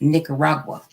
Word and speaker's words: Nicaragua: and and as Clarence it's Nicaragua that's how you pronounce it nicar did you